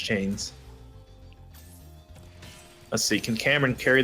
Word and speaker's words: 2Chaimz: Let's see if he's more successful than Groxu and 2Chaimz were. Chaimz. I keep saying 2Chaimz. I want to say it, but I was informed he's actually pronounced Chains.